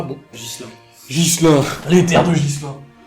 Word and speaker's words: Ghislain: Ghislaine. Alors, ça s'écrit Ghislain. G-H-I-S. L-A-I-N. Moi, je te prononce ça Ghislaine, mais c'est peut-être pas bon. Gislain.